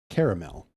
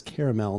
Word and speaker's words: caramel: The word originates from French and Spanish and it correct pronunciation is with three syllables according to quick and dirty tips.